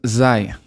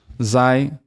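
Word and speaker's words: ز: Then the next one is zai. Some people pronounce it as za. Zai is zai. It's more zai. So put like an I, Zai, Zai.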